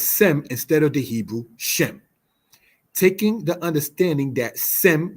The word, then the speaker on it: Shem: Shem is the Hebrew word. Sem is the Greek transliteration of such. Since Greek does not have a sh sh syllable, it is thus in metathesis said as sem.